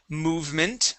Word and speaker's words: movement: Okay, how about the word movement right here? Movement. Movement. Good, yes, so the E is silent.